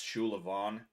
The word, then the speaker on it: Sullivan: when it comes to my last name Sullivan right um that's shulan in the Irish pronunciation in Irish um that